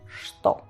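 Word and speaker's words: что: Y esto aún así se pronuncia en ruso sto, no sino sto.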